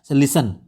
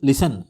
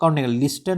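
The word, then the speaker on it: listen: लिसन एल आई एस टी एन तो इसको लिसन लिसन बोलेंगे। इसमें टी लिस्टन नहीं बोलेंगे हम लोग।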